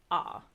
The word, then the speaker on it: ho: you see it so to say I have you would say ah but it's spelled like h o and then to say